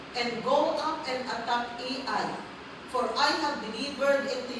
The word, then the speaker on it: Ai: No hindi ako marunong magmasayan at sabi ko anong pronunciation nito? I ba ay gan yun pala nung may nagturo ' ba ai pala ang pronunciation niya tagal AI his people, his city and his land.